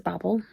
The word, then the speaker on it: Babel: and it seems like the American pronunciation of it is Babel and the British pronunciation is Babel, but there has been like reference to it being said because of like babble as in talking babbling. So I'm saying it as babble, but I could be wrong. I believe that is how the author pronounces it though.